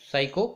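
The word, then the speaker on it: psycho: So cost, इन्हीं को हम क्या कहेंगे, so also called साइको, P silent रहता है, ठीक है, साइको थेरेपेटिक ड्रग्स।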